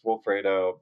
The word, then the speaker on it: Wilfredo: But I you know, so for me it was just like a funny like this is how you pronounce my name, but it's Wilfredo building Destino.